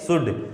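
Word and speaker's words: should: यानी ये एल यहाँ पर साइलेंट है, इसको शुल्ड मत पढ़ देना, क्या है ये शुड, कि इसको कुल्ड शुल्ड ऐसे पढ़ देते हैं, लेकिन ये एल क्या है कुड शुड।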